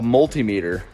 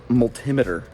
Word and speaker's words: multimeter: to test them a multimeter and that's how you say it 100 jake not multimeter i kind of like that though multimeter he does it like altimeter anyway multimeter it's multiple meters all right there you